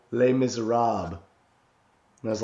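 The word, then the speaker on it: Les Misérables: like he's he's like how would you pronounce this and I was like um Les Miserables and he's like ha no L miserab and I was like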